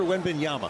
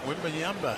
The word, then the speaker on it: Wembanyama: How do you pronounce the kid's name? Victor Wembanyama. Wembanyama.